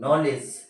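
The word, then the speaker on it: knowledge: के एओ डब् एलडीजी इसमें D silent और के साइलेंट है क्यों साइलेंट है वह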